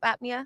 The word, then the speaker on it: apnea: Is that how you say it? Sleep apnea? Yeah, that's correct.